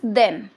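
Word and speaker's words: than: इनकी थोड़ी सी प्रोनाउंसिएशन में भी डिफरेंस है, लेकिन लोग इन्हें कई बार सेम बोल देते हैं, बट इनकी प्रोनाउंसिएशन में डिफरेंस है। जैसे फर्स्ट वाला बहुत प्रेशर से आता है देन, और सेकंड वाला दैन है, क्लियर।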